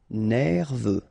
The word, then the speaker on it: nerveux: Final X not pronounced. E-U, E, V. Nerveux.